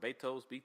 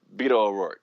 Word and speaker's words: Beto O'Rourke: I always pronounce it wrong. Betos, whatever the fuck is it? Beto O'Rourke.